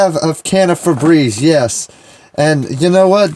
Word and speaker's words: Febreze: because i'm southern but i've been calling it fur breeze like my whole life when it's really febreze yeah febreze yeah the